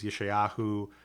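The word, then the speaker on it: ישעיהו: their English names, but you know, Isaiah is Yeshayahu, Jeremiah is Yirmiyahu, Ezekiel is Yehezkel, and so we have a few things like that.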